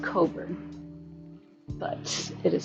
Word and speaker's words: Cockburn: Yeah, it's pronounced cobber, but it is spelled cobburn.